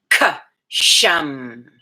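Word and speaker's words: Ksham: It's the K and then a dash, S-H-A-M, as in Mary. K-sham.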